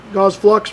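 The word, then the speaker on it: Gauss Flux: Gauze Flux rhymes with sucks.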